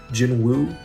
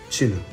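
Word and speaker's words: Jinwoo: s Jin Wu but the correct Korean pronunciation station does not have the W sound in it so it is not Jin Wu It Is jinu song jinu and his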